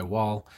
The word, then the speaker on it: Wahl: got the wah l i know it's pronounced wall but it's what l